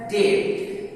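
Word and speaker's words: debt: जैसे BEBT, तो T के पहले B है, इसलिए इसका प्रोनाउंसिएशन है डेट, यहाँ B साइलेंट रहेगा, इसको डेट नहीं पढ़ेंगे।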